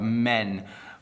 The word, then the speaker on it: men: So there are a lot of men over there. Let me give it to you one more time. Man and men. Hopefully you can distinguish between the two.